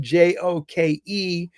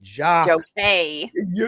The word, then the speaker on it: joke: And there are all kinds of nice little tricks, the word Joke, the way that it's joke and not jock, or joke is that,